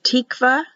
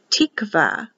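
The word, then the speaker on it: תקוה: makes it an h this only means a syllable separation it's for the word tikvah which stands for hope it's a feminine noun it's in the bible 34 times in the strong's concordance h 8615 tikkava here's a word for shalom shalom start on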